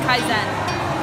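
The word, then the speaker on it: 改善: And it's a Japanese word that means continuous improvement, and it's pronounced kaizen.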